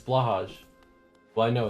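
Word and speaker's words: Blåhaj: It's pronounced like blow high? Wait, what is? Oh, I know. Yes, I'm aware. I'm aware I'm saying it incorrectly. But Blahage is funner to say. I'm absolutely aware I'm saying it wrong.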